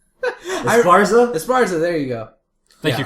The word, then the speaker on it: Esparza: That chick who's from Pasadena who went to the Olympics, Marlene, and I can't pronounce her last name. Esparza? Esparza, there you go.